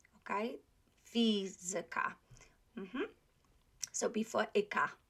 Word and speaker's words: fizyka: Okay, fizyka. Okay, fizyka. So before ika.